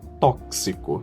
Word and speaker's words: tóxico: So the first way to pronounce X is KS, like kiss, kiss. Like in the word tóxico, that's toxic, toxic. We have axilla, then armpit, axilla.